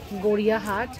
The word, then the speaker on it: গড়িয়াহাট: তোমাকে দেখে কেনা বেচার এরকম দুর্ধর্ষ ছবি গড়িয়াহাটের চৈত্র সেলের বাজার ছাড়া আর কোথায় বা দেখতে পাওয়া যাবে বলুন তো। আর আমরা বাঙালিরা জানেন গড়িয়াহাট উচ্চারণটা না ভুল করি, দেখবেন অবাঙালিরা বলেন গাড়িয়াহাট, আসলে ওইটাই সঠিক উচ্চারণ।